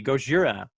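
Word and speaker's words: ゴジラ: of that shirt because it's the pronunciation the way it should be, Gojira.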